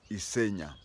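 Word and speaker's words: Isinya: Pasha was from isena the spelling is issinia but it is today a sub-county but it is pronounced as isenia Ole Pasha was a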